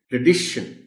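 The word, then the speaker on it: tradition: ये जो ए है इसको अ साउंड के साथ बोलना है. ट्र, जैसे प्र में हम बोलते हैं, प्रोनाउंसिएशन में बोलते हैं प्र, ये बोला जाएगा ट्र. और दूसरा पॉइंट ये है कि इसकी डी पर स्ट्रेस आएगा.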